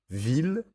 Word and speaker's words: ville: Ville, tranquille et mille, et leurs dérivés comme villégiature, tranquillement ou millénaire. Ils se prononcent il.